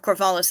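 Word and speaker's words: Corvallis: uh I don't know the second pronunciation of Corvalis is correct the second syllable second solel emphasis emphasis apparently that was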